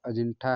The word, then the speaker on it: अजिंठा: मील की दूरी पर अजिंठा नामक ग्राम है जिसका मूल शुद्ध उच्चारण अजिंठा है और इस ग्राम के